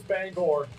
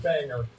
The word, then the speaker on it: Bangor: against that fishing staff it is bangor not banger we check just to